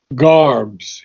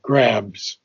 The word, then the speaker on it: garbs: When the soul fronts nude, and here's the word of garbs, you pronounced it grabs.